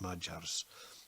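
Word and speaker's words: Magyar: century the fierce mergers spelled ma gy AR but they pronounce it ma jars they invaded from the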